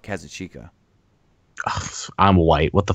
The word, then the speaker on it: Kazuchika: The nominees were Kazuchika Okada versus Kenny Omega. You said that wrong. I said it wrong? Kazuchika? Actually, when he was on the Observer podcast, he said himself Kazuchika.